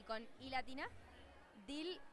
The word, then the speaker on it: Deal: Mis redes sociales son, con E y con I latina, Dil, que se escribe Deal, D-E-A-L.